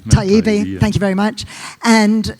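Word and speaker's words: Taibbi: Taibbe. Taibbe, thank you very much.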